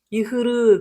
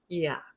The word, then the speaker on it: ihr: 일단 발음 만만치 않죠. 이흐르 그러면 참 좋은데 제가 뭐라 그랬냐면 이 모음, 이거 L 아니에요. 이거 대문자 A입니다. 모음 뒤에 하가 오면 그 모음을 장모음으로 만들어주고 자기는 장렬히 전사한다. 묵음이 된다. 독일어의 유일한 묵음이다라고 제가 말씀드렸어요. 그래서 이거는 이 이렇게 되는데, 자, 음절 끝에 R가 나오면 이거는 약간 요 정도의 소리가 난다 그랬어요. 그러다 보니까 이야 이렇게 됩니다.